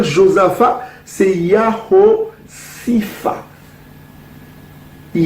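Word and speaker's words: Josaphat: vallée de Joseph à comment on va prononcer Josepha ce n'est pas Joseph on va prononcer il y a aussi fa la vallée de Yao Sifa donc ça veut dire qu'il y a aussi fa y a aussi faux au lieu de dire josapha c'est Yaro Sifa il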